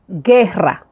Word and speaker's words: guerra: Guerra. Guerra. We don't say guerra. We say guerra. guerra. You don't pronounce the U. When you have this combination, you don't pronounce the U. So you say guerra.